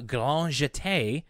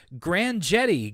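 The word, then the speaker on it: grand jeté: get to hear all the french french pronunciations of uh including uh grand jate or as dw says grand jetty grand jetty yeah this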